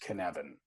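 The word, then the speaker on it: Cynefin: Uh, so Knevan, it's actually a a Welsh word and it's spelled C Y N E F I N. Okay. But it's pronounced Knevan.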